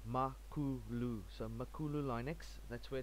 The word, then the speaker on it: Makulu: zulu word for big chief so it's basically pronounced makuu so makulu linux that's where it comes from